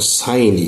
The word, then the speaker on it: sine: তাহলে দেখো সাইন, SINE, সাইন theta, এটা সংক্ষিপ্ত রূপ হলো SIN, সাইন থিটা। উচ্চারণটা কিন্তু হবে সাইন থিটা, সাইন থিটা। তোমরা কিন্তু আবার ভুল করে সিন থিটা বলো না, উচ্চারণটা হবে সাইন থিটা।